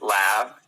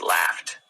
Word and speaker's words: laughed: it it's stopped stopped it's not laughs it's not laughing its laughed laughed it's not missed' it's